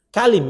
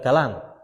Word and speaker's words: kalim: Kalim itu bacanya, kalim. Bukan kalam. Kalau kalam kan pakai alif tuh.